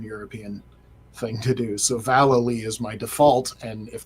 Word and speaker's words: Vallely: I believe he confirmed that it was Vallely. Yeah, Valley, Valley.